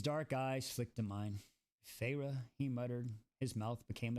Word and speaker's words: Feyre: She drew out 2 syllables of name. Feyre.